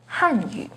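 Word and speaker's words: 汉语: The pinyin and tone for Hanyu is with the 4th falling tone on Han, Hanyu. The pinyin and tone for Hanyu has a 2nd rising tone on Han, Hanyu.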